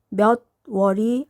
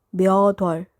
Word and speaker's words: 몇 월: 발음은 몇 월이 아니에요. 몇 월.